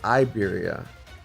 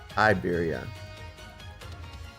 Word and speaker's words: Iberia: Oh, it's Iberia. You don't pronounce the L. Iberia.